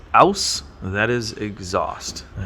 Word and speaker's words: aus: Aus and in. That's how you say it properly.